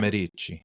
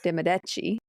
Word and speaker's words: Medici: Medici. It's de Medici. Medici. Medici. It's the emphasis is on a different syllable.